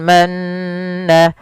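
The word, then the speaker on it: المن: Kemudian pada lafal manna, manna ada bacaan yang kita namakan dengan bacaan gunnah. Apa itu bacaan gunnah? Gunnah terjadi apabila adanya nun berharokat tasydid atau mim berharokat tasydid, maka ini harus dibaca dengan bacaan gunnah, yaitu memasukkan suara nun atau mimnya ke rongga hidung kita. Maka alaikumul manna, manna wassalwa, sambil ditahan dua harokat.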